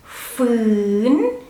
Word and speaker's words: ฝืน: ฟอ ฟือ ฟือนอ ฟืน ฝอฝา is a high class consonant so when you pronounce it because ฝอฝา is high class so the tone has to be high and kind of like rising so ฝืน ฝืน so it has kind of like rising and falling a little bit at the end ฝืน ฝืน while ฟอฟัน